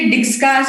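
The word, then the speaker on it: Dijkstra: जिसके लिए डिक्सट्रास एल्गोरिथम, इसमें जे साइलेंट होता है, डिक्सट्रास एल्गोरिथम बोलते हैं.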